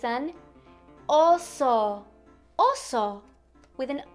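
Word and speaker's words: oso: it's a bear but in Spanish it's an oo oo with an O oo and these are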